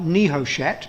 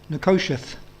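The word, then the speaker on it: נחשת: used which is spelled n-e-h-o-s-h-e-t it looks like niho chat but it's pronounced nicosiath nakoshith and the word in Daniel is slightly different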